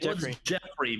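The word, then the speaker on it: Geoffrey: say Jeffrey or Joffrey he said Jeffrey but it's spelled with the G the g-e-o-f-f version that's how the other Jeffrey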